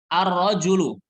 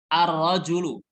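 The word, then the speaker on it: الرجل: jangan bacanya emas kemudian arrojulu arrojulu huruf ra Ar ra Julu Alif lamnya tidak terdengar saat dibaca karena langsung masuk huruf ro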